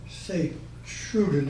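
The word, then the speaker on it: Sint-Truiden: St. Troy, Okay, I reported this to the air base at St. Troy, St. Truden in the Flemish, okay, and that was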